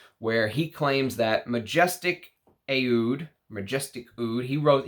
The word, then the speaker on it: Aoud: he claims that majestic ayud majestic food he wrote he writes it ayud because he says that's how they say it in the middle east ahud is how he says